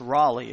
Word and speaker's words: Raleigh: I had Ellis, but I've been saying Lewis, so it's pronounced Raleigh, as in the city in North Carolina, so thank you for that.